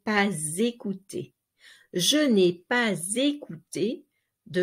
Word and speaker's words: pas: Now, here the silent S of pas is not silent anymore because it is linked to a vowel. So you say pas écouter.